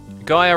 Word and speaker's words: Gaia: Gaia rhymes with higher.